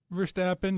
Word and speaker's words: Verstappen: And now that he retired, I'm more of a Verstappen guy. Is that how you say it? Verstappen, yeah, because he's kind of the same way.